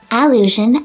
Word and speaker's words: allusion: First is allusion and illusion. These are two nouns with nearly the same pronunciation. Only the vowel at the beginning is different, and in certain dialects they might sound the same.